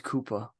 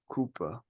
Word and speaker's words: Roy Cooper: that we were all pronouncing his last name wrong it's Koopa kooper Roy kooper I said